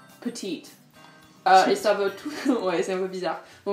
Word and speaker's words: petite: Ok, donc premier mot c'est petite, mais en anglais ça se prononce petite.